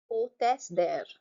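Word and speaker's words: hôtesse: I'm not pronouncing the H. Hostess there.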